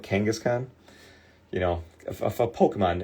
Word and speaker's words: Kangaskhan: It's like Gangaskhan, but Kangaskhan.